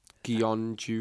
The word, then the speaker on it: Gyeongju: From, and I am not going to pronounce that team name. Gyeongju, KHNP. Gyeongju.